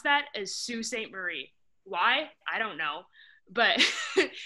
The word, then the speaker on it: Sault Ste. Marie: In a weird backwards Michigan way, we pronounce that as Sault Ste. Marie.